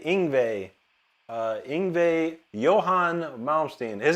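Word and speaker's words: Yngwie: Boquet Samuel says, "How do you pronounce Ingve?" ing Ingve. Ingve.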